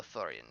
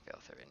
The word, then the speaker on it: Veoran: Veil Veil Thorian. Sorry. Veoran. I pronounced that wrong. I said that wrong.